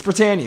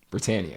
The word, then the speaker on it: Britannia: beef is a thing britain is not a thing britannia britannia it's britannia the encyclopedic britannica britannica that's probably the ship was named after it the britannia britannia yes yeah so that's how it's pronounced britannia whatever yeah i'm allowed